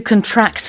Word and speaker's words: contract: So first off, the stress is on the second syllable as a verb, to contract, as opposed to a contract, which is something you sign in a deal.